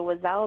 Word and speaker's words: Oiselle: The Wazelle Dirty Dozen, and Wazelle is spelled Oiselle.